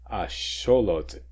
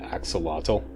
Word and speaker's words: axolotl: Asholot apparently is how this is properly pronounced according to the ancient or even not so ancient Nuatl Aztec language. Yeah, apparently Mexicans laugh at the English pronunciation axolotl.